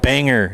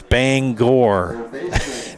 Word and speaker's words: Bangor: It's not Banger. It's Bangor.